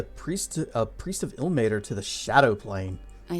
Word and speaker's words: Ilmater: Ilmater. Now we know. Now we finally know how it's pronounced. Huzzah. It's Ilmater, the god of martyrs and suffering.